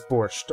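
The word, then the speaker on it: borscht: today maybe later um pronunciation is it borch Bor yeah it's borch all right yeah I was pronouncing it correctly borch there's no e why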